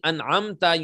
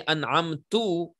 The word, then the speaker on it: أنعمت: If you were to read Dhamma on Ta, instead of saying أنعمت, you say أنعمتو, it will change the meaning.